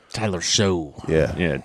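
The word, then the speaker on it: Shough: It's like Tyler Show. yeah, Yeah. It's showtime. Tyler Schuff. I would. There you go. Yeah. Though Show. Yeah. Tyler Show. Tyler Schuff. It rhymes with rough. So because of that, I mean, I'm not touching any Saints.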